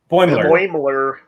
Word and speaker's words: Boimler: Boimler. Like Boyle with Muller on the end. Boimler? Boimler. Like, yeah, if you were saying boiler, but with an M stuck in it.